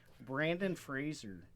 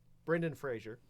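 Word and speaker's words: Brendan Fraser: they do well apparently Brandon Fraser yeah Brendan Frazier say his name right he got um and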